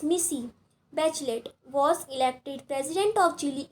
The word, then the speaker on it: Michelle Bachelet: That girl, Michelle Bachelet, pronounced Missy Bachelet, was elected president of Chile in January 2006.